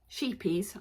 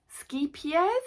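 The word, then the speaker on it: Scheepjes: instead it is a sheepies I know that's not how it's really pronounced but us Brits are a bit rubbish at pronouncing sheepies skes I think is the correct pronunciation so the yarn I've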